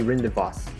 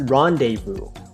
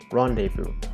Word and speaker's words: rendezvous: be rendezvous orindivos rin i think it'll be rinda boss yeah it i think it'll be properly pronounced as rendezvous but no it's rendezvous tada yeah right there that's that's how you